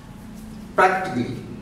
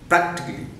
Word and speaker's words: practically: First one is the vowel sound is deleted in certain sounds. They are a sound, practically, it's not practically, practically, and then mechanically, it's